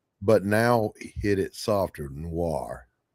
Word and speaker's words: noir: Noir. Did I say it right? Not new. Nor Noir.